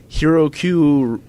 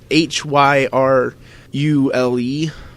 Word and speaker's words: Hyrule: It's Hyrule Warriors. Harukyu or Haryu Warriors. I'm sure John LeCun and Zach are just bashing you right now because you're mispronouncing it so horribly.